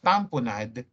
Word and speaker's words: tamponade: It's pronounced as tamponade, but it is spelled as tamponade, as in lemonade.